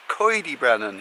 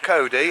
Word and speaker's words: Coed y Brenin: Alright, Pinners, today we have come to, do you know how to say it properly? Coed Y Brenin. Apparently, the correct way of saying it is Coed Y Brenin, not Cody. Everyone calls it Cody, so you are corrected.